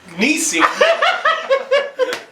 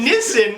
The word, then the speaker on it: Nissin: cut me off and they're like well it's pronounced nissin and this time remember to not say nisi but say nissen instead because that's how it was pronounced nissan